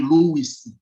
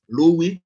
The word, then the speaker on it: Louis: you understand i believe some people call this money lewis but um i don't think it should be pronounced that we are talking about louie monty lewis so i